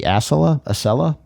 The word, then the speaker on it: Acela: America's, as far as I know, only true high-speed rail, which is the, I'm going to mispronounce it here, but it's the Acela, A-C-E-L-A express train that runs from, I believe, Boston to D.C., back and forth.